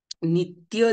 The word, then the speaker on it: नित्य: देऊन उच्चारण करायचं आहे जसं उदाहरण इथे नित्य दिलेला आहे नित्य जोड अक्षराचे उच्चारण करताना जोड अक्षरापैकी प्रथम अक्षरावरती जोर द्यायचा आहे आपण आपल्या